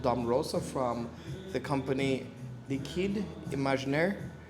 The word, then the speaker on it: Liquide Imaginaire: Rosa from the company Liquide Imaginaire. So my French is horrible, but I was told by one of the owners that that's the way how the brand is pronounced. The name is pronounced.